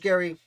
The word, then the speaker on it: Gerry: higher elbridge gary yes i believe it's pronounced gary even though gerrymandering is named after him and no that's not